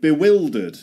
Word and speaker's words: bewildered: And you've got to pretend it's spelled like this. be will. And here you can dud. You can say you can pretend it's spelled like this. Bewildered. Bewildered. Like the verb the auxiliary verb the auxiliary verb will.